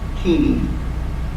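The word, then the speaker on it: Chini: name, not Q-U-I-N-A, but C-H-I-N-I, Kini, and it got pronounced Kina.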